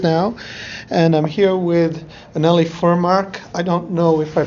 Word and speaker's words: Anneli Furmark: can tell us yes it's like it's more of a a in the beginning I think the Swedish um pronunciation is so beautiful I don't know it is a kind of like a lull and then an emphasis at the end I've heard the expression